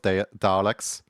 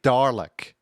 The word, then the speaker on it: Dalek: Like it sounds like you spell it like the way you say Dalek, you know, D A R L E K. Dalek, it's a silent R.